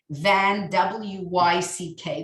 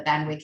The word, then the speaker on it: Van Wyck: Wyck family, which is the correct way to pronounce it, I learned. Van, W-Y-C-K, which I always thought was Van Wyck, but no, as in the Van Wyck Expressway, but it's the Van Wyck.